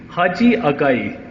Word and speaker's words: Haji Agai: I mean, just my last name, by the way, is pronunciation. It's like, it's 2 words. That then it will be very easy. Haji Agai.